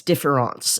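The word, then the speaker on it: différance: a term for this differance it's differance with an A and an accent mark which in French is of course pronounced exactly the same way as difference difference which which is something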